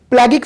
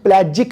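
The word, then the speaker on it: pelagic: आप देखें, प्लेगिक फिश, जिसको हम प्लेजिक फिश कहते हैं, पाकिस्तानी उसको प्लेगिक बोलेंगे कि प्रोनाउंसिएशन उस तरीके है, लेकिन मैंने इसको क्रॉस चेक कर लिया हुआ है, ये प्लेजिक फिश है, ठीक है।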